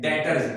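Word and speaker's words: debtor: उसके बाद स्टूडेंट्स वो कह रहे हैं डेटर्स, इसमें 20 साइलेंट होता है, याद रखिएगा ये डेप्टर नहीं होता बल्कि डेटर।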